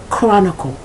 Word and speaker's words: Chronicle: sound is the pronunciation sometimes the pronunciation is like the hard C or k such as Chronicle that's ch r-o-n-i-c-l-e Chronicle